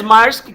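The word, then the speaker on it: Maersk: the company must must that's right it is mask can you spell that because the spelling is tricky extra points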